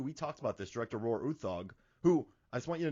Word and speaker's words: Roar Uthaug: thug so uh they i read the nordic pronunciation it's like roar dawg but you know he pronounces as rohr uthug so i feel good